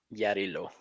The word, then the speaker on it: Yarilo: Look, Maru, this is Yarilo. Oh, yeah. How do you pronounce it?